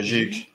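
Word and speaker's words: XIG: So, Zhig, am I saying it right? Zhig, X-I-G? Yeah, Zhig. Yes, Zhig.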